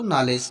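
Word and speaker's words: knowledge: पढ़ेंगे नेक्स्ट देखते हैं नॉलेज यहां पर भी देखो के के बाद एन आया है फिर उसके बाद बबल आया है तो यहां पर भी हम के को साइलेंट रखेंगे और इसको नॉलेज पढ़ेंगे नंबर टू एस एस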